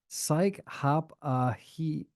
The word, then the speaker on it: Psychopathy: It's pronounced psychopathy. Because that's the actual thing.